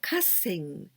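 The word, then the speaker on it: 河川: And niji jukugo here, we pronounce kasen.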